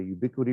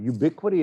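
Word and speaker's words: Ubiquiti: is um is i have a ubiquity router it's an edge router here it's kind of like the linuxes router we looked at it's got a lot more feature sets to it um and the ubiquity equipment it's spelled funny it's ub-q-u-i-t-i is dirt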